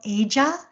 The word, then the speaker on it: Aja: name is uh Daniel Aja and a lot of people don't pronounce his name correctly so he said it's like Ajax without the X so I'm not sure